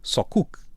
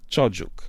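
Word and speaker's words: çocuk: Escreve-se com C de cedilha, o C u K. E nós diríamos que que seria algo como só cook, mas não. A a pronúncia, pelo que eu percebi que eu até antes do episódio estive a ouvir porque a dizer é algo como chuk. Tojuk.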